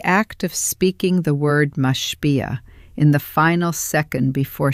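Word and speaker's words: משפיע: The word is mashpia. Say it with me once, slowly. Mash-pi-ah. 3 syllables, the accent on the second, mashpia.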